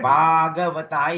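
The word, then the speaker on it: Bhagavatā: Now don't write Bhagavata. It's Bhagavata. BH is an aspirated B, we call it. So you must pronounce it bah.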